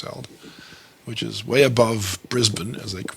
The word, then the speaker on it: Brisbane: which is way above brisbane as they pronounce it not brisbane brisbane spain brisbane they just they sort of cut short their last syllables so i'm back welcome